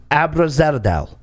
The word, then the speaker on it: Abzaradel: on two things number one your name is pronounced abrazadel wow okay number two nelson asked me nelson